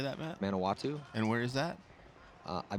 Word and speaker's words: Manawatu: Manawatu.